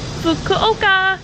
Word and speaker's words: Fukuoka: But then my sister and I are going to Fukuoka. Is that how you pronounce it?